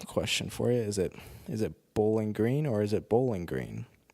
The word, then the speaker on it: Bowling Green: Is it Bowling Green or is it Bowling Green? These are the types of things I think about. I think conventional wisdom has you pronounce it Bowling Green, emphasis on the green, but the more I